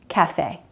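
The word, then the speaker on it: café: rat rate breath breathe but note the word cafe we do pronounce that ending e even if it's written without the accent cafe also a note about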